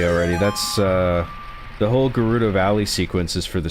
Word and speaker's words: Gerudo: Are you past Ger Gerrio Valley or how or however it's spelled? See, here we go. Now we're done. We're good. This is This is what we needed. Gerudo, you're not a true Zelda fan.